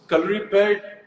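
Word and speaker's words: Kalaripayattu: so, calorie pad, Hrithik, I'm so proud of the fact that you said the name correctly because in India, I Thank don't you.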